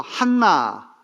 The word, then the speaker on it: 한나: 보면은 안나라고는 할머니가 등장하는데 안나는 헬라 말로 한나 이렇게 발음이 돼요 사무엘상 1장에 나오는이 나하고